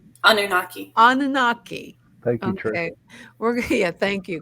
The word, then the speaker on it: Anunnaki: Anunnaki? Anunnaki. Thank you, Trish. Thank you, because you know me with my pronunciations.